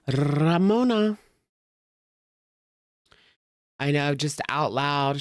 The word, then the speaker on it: Ramona: Roll your R saying Ramona. Ramona. It's Ramona.